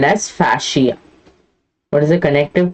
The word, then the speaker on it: fascia: a connective called as fascia what is a connective called fasia or fascia okay however you want to pronounce it then there are coverings